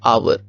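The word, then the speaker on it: hour: for example यह एक word है आवर इसमें पहला वर्ड जो है यह कॉन्सोनेंट है बट दिस इज साइलेंट इसी तरह ऑनेस्ट इसमें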